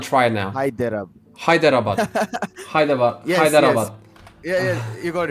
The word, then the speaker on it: Hyderabad: And that's spelled as Hyderabad. H-I. Hyderabad. I'm gonna try it now. Hyderabad. Hyderabad. Hyderabad.